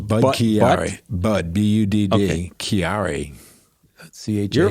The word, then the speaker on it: Budd-Chiari: It's called Budd-Chiari disease. Wait, more acronyms. More syllables? More syllables. Budd-Chiari.